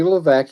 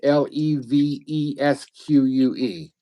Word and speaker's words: Levesque: He spells it Tony, and his last name is Levesque. It's one of those French names where half the letters you don't pronounce, so because French names are like that.